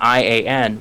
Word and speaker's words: Ian: bookstores in town and I'd always seen the name I an and thought it was ion and then it took